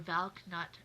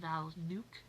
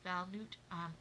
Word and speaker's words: Valknut: It looks like, if you read it on paper, Valknut, but I have heard that it is actually pronounced Valnut.